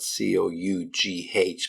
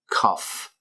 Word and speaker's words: cough: It's spelled c o u g h, but the sounding at the end is like a f cough, like two fs, double f, cough up like the word ruff.